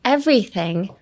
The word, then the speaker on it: everything: And everything. Emphasis on the V. Everything.